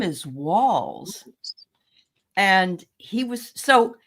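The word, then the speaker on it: Walz: Did you notice that Vance called Tim Waltz, like a waltz? Yeah. His name is Walls.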